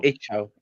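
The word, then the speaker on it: Icel: With the letter C, if it's around the letter I or E in Old English, it pronounces as a ch sound. oh, So, Ichel.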